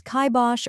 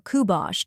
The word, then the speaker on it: kibosh: The correct pronunciation is kibosh or kubosh, depending on the region. Let's break it down. First, we have kai, which rhymes with sky in the most common pronunciation.